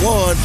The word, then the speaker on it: Juan: Not hard at all, especially when you hear the name Juan Manuel Marquez. You know that means trouble as soon as the J part comes out. Although it's pronounced with a W as in Juan, you know when you hear that, that means war.